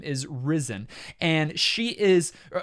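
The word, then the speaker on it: Rysn: Her name is Risen. And she is, I'm maybe mispronouncing that a little bit. It's Rysyn, Risen.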